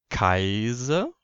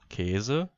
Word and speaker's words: Käse: Ist nämlich das S von Vokalen umgeben, dann wird es stimmhaft ausgesprochen. Zum Beispiel Käse, Knusen und Rasen. Also Käse, verdauen und rasen.